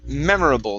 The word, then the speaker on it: memorable: uh next is uh the word memorable right here memorable the stress is at the beginning memorable okay one more